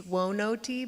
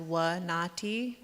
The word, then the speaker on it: WINATI: So I know it reads Wonoti, but it's actually pronounced Wanati.